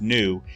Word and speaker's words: nu: uses this greek letter nu it looks like a combination of a v and a u it's pronounced new and that's the symbol